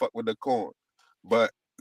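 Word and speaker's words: Quorn: And then you got this called corn. It's spelled Q U R N.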